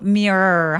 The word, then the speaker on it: mirror: 근데 일반 사람들은 원어민들이 어떻게 발음하냐면 R이 너무 많잖아요. 그래서 그냥 R을 첫 번째 R을 그냥 길게 발음해요. Look in the mirror 이런 식으로 mirror 하면서 R 발음을 좀 과장되게 표현해서 굳이 음절을 하나 더 만들지는 않아도 괜찮다.